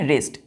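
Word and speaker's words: wrest: लोग इसको क्या पढ़ेंगे रेस्ट आर से डब्लू साइलेंट है रेस्ट मेरे साथ रेस्ट क्या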